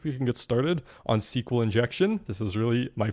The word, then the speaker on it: SQL: I'm going to pronounce it SQL from here on out. I've heard it as SQL, but SQL.